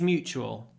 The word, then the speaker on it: mutual: and the feeling is mutual I hate him too Mutual uh and the t is pronounced more like a CH because it comes before a u Mutual Mutual next I